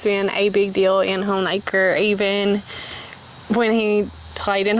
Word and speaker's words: Honaker: virginia all right and i am pronouncing it right home acre and i'm going to tell you guys some cool history and how i know that we are saying that right so it's not hanukkah it's not hanukkah and